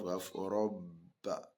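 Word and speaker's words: رَبَّ: So the pronunciation of that letter is going to be double. So it's not unlike when you have ro fatia ro, ba fatia ba. What will it give you? Roba. But here, once you have shadda on that particular letter, you are going to double the pronunciation of that particular letter that take the shadda. That's why we have robba.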